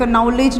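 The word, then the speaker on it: knowledge: डिड नॉट नो नॉलेज इसको कि क्या है साइलेंट एंड नॉलेज नहीं होगा इट इज नॉलेज नॉलेज नोटिसड hair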